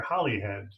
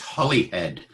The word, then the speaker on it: Holyhead: but is it is it Holyhead or Holly head ah good question it's Holi its Holi head and the in some of the early texts is actually spelled with two L's pronoun reflecting the pronunciation but it's Holyhead etymologically